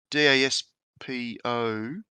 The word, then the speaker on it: Daspo: It's from a guy called I can't pronounce it. It's Daspo.